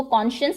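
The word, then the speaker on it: conscience: the sake of friendship कौन और साइंस से मिलके ये वर्ड बना है लेकिन इसको कॉन्शियस प्रोनाउंस करेंगे आप कॉन्शियस मतलब होता है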